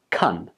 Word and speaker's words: can: a quick pronunciation tip can in this expression takes the weak form and it's pronounced like cun when you say the